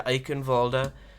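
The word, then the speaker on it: Eichenwalde: here we're going to eichenwalda as soy of the OverWatch league would like me to pronounce it she is from uh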